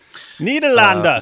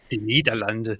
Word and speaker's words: Nederland: Nederlanden, say it right. Nederlanden.